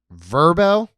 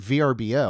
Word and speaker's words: Vrbo: Airbnb, Verbo. Did you know it's pronounced Verbo? I just called it VRBO.